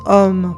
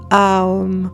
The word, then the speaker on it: Om: Chaque partie du son homme stimule une zone différente qu'on le prononce homme pour sa rondeur et sa simplicité ou a hom pour décomposer son voyage vibratoire.